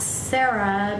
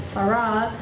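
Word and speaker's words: Serah: point it's interesting that Sarah s e r a not Sarah but Sarah um is the only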